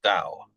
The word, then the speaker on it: Tao: So, Tao, or spelt Tao, pronounced Tao.